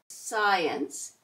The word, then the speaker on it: science: SC, C is silent. We're going to hear the S in scent, scene, science.